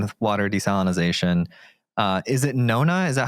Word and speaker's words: Nona: Is it Nona? Is that how you pronounce it? Yes. What is that? So it's like no sodium. Oh, no NA.